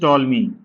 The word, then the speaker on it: Ptolemy: अगला है हम लोग देखते हैं क्लॉडियस टॉलमी। क्लडियस टॉल मी टॉल मी में पी साइलेंट रहता है। अगर हिंदी में लिखें इसको क्लोडियस टोलमी ठीक है।